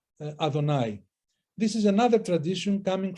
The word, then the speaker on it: Adonai: I am written as Yehovah, but pronounced as Adonai.